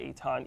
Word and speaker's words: Eitan: on social media at Eton eitan um or Facebook and Twitter's at a time for now my full name uh e-i-t-a-n my name is spelled nothing like it's pronounced I mean in that